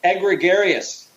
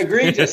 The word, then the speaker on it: egregious: and and I believe egregarious he also oh yes EG or egregious as it's pronounced egregious sorry egregious I KN how nice